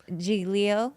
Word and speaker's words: Giglio: Giglio. Well, I mean, he's from Italy, so on the island that he grew up in, that's how they pronounce it, Yeah, in Sicily.